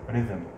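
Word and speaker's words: rhythm: عليها رايم، القافيه اند ريذم. وطبعا حرف الاتش هنا لا ينطق، رايم ها ريذم، اتش لا ينطق، رايم يعني القافيه، وريذم يعني الايقاع او الوزن.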